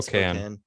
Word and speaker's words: Spokane: Oh yeah, I was actually in Spokane.